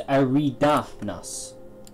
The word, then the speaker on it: Eridanus: Oh, so it's Eridanus.